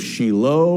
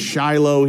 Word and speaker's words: Shiloh: was the mayor of Shiloh we pronounce it Shiloh here in the west but Israelis call it Shiloh in the biblical Heartland